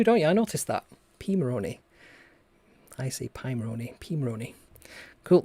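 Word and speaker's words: Pimoroni: there we go interestingly even though the name starts with pi we actually pronounce it p p moroney yeah you do don't you i noticed that p maroney i see pymoroni pimaroni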